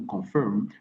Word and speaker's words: confirm: A fetal blood sample should be taken to confirm. Attention ici, les R n'est pas prononcé. Au contraire, on prolonge la voyelle. Confirm, firm. Okay, should be taken to confirm fetal status before proceeding to an operative delivery.